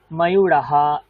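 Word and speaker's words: ময়ূরঃ: আছে ওকে ঠিক তেমন ময়ূরাহা সুকাহ উচ্চারণ ঠিক করতে হবে নাহলে কিন্তু বানান ভুলে যাবে দেখো আমি কি উচ্চারণ করলাম ময়ূরাহা ইউরাহা ইউরাহা দীর্ঘ উচ্চারণ করলাম তেমনি সুকাহা সুকাহা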